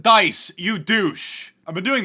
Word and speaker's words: Dice: two uh people on Twitter saying wait Mark de has been doing this or dice de has